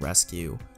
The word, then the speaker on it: Resku: meeting with their company the way it is pronounced like rescue our ESC UE but